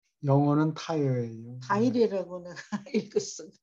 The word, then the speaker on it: Tyre: 타이어라고 발음합니까? 영어는 타이어예요.